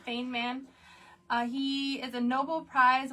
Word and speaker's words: Feynman: Feynman. Feynman.